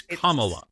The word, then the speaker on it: Kamala: or fourth time yeah say her name properly like a Comm that's anything else besides a condescending prick on this serious yeah yeah it's like a comma and a sentence a